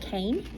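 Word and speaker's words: חן: funny the word is hen but it's actually pronounced Cain in the Hebrew really open yeah I know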